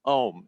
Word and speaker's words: Om: say how to pronounce ohm it's simple you start with taking a deep breath you open your mouth ah you don't have to change anything just half close the mouth ah becomes ooh and fully close the